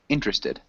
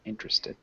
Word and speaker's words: interested: well done though um interested Rohan can you repeat interested yeah interested yeah good so just one of those three syllable words um instead of a four syllable word but interested interested and let's have